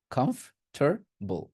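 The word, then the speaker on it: comfortable: টার কি বলবেন টার কমফর্টেবল কমফর্টেবল টরটা আর উচ্চারণ করতেই হয় আর কিচ্ছু করতে হয় না কমফর্বল কমফর্টেবল কমফর্টেবল কমফর্টেবল বুঝতে পারছি কমফর্টারবল ওকে সো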